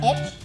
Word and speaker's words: HD: ว่ากันด้วยเรื่องของ HD I must emphasize that it's pronounced "HD," not "Hed-dee," ย้ำนะคะอ่านว่า HD ไม่ใช่ เฮ็ดดี because "Hed-dee" means "doing good."